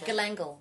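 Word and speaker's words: galangal: Galangle.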